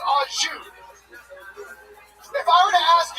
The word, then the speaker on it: au jus: A French dip is so luxurious, that shit comes with no dipping sauce, and that dipping sauce is pronounced au jus.